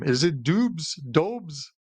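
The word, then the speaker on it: Dobeš: his name is it dubes do it's it's so he's actually uh he's Czech it's a doish so yeah with the sh sound at the end yob doish okay so I'll I'll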